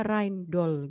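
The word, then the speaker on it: Rijndael: ada dari randol gitu Ini bacanya Rain Doll gitu ya hai eh dari Belgia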